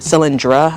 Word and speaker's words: Cylindra: Cylindra I think it's pronounced.